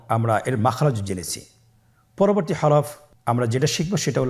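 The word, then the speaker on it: حاء: হা এর মধ্যে কোন নুক্তা আমরা দেখতে পাচ্ছি না। হা হরফটি কিভাবে উচ্চারিত হবে? হা হরফটি উচ্চারিত হবে কন্ঠনালীর মধ্যখান হতে। গলা চিপে ধরে আপনি উচ্চারণ করুন।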